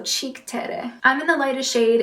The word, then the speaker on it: Cheek Terre: It's the Cheek Terre. I think it's supposed to be a play on like Cinque Terre, but it's spelled cheek, so Cheek Terre.